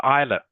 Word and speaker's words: island: the word Island it's Island it I know it's SP yeah i i s l a n but the S the S is yeah s is silent of of course that's